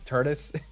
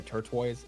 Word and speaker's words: tortoise: I can say turquoise I messed up on Tortoise the other day right turis was a turis I should have known the turis in the hair but I called her turtoise that that was a